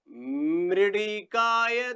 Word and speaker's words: मृडिकाय: मृडिकाय ते मनो रथिरस्व अश्वम न संदितम गिरभीर वरुण सीमहि। आराम से फिर पढ़ना, मृडिकाय, ये ली नहीं है, ड़ का उच्चारण होता है।